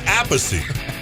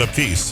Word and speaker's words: Appice: Not Appice, but Appice. He's got Rod Stewart to thank for that mispronunciation thing there.